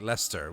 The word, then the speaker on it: Leicester: But I mean, there's already a couple of words like Leicester, which really should be Leicester, you know? Because that's how it's spelled.